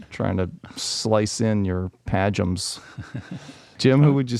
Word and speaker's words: Padgham: Padgham is correct. Padgham.